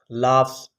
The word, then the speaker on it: laughs: ऐं टियों वर्ड आहे मैप्स, लाफ्स। हाणे हिते तव्हां कंफ्यूजन हूंदी त जी एच हिते लिखियलु त कोन आहे, बट it gives the sound of फ, that's why it is pronounced like laughs, not loves।